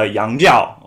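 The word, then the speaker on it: 洋教: foreign religion okay in chinese in mandarin is pronounced uh yangjiao okay as a foreign religion okay this term yangzhao is a very odd term okay if you're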